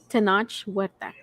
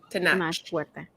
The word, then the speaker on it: Tenoch Huerta: Okay, I want to pronounce the guy's name real quick. Tenoch Huerta. There it is. Tenoch Huerta.